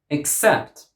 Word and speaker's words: except: Except. Except. Second syllable.